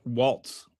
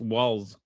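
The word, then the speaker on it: Walz: It's it's spelled it's not Waltz, it's Walls. W A L Z.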